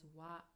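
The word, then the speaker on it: は: So as you can see, we write it as hiragana ha, but we pronounce it as a particle as wa, wa.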